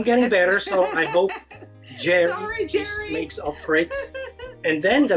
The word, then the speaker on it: Jerry: said guys it's not Cherry it's Cherry thing so maybe you can tell me how you pronounce that correctly well it's not Cherry it's Jerry yeah Jerry Jerry J Tom and Jerry that's what I tried